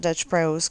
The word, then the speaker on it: Dutch Bros: It's probably Dutch Brothers, but they call it Dutch Bros cuz that's how it's spelled on the sign.